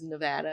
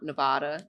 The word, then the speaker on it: Nevada: I don't call out that Nevada is Nevada and not Nevada, then somebody somebody else